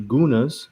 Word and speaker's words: Gunas: So what some of you might not know is that the Gunas, and they prefer that we pronounce it with a G because there is no C or K in their alphabet.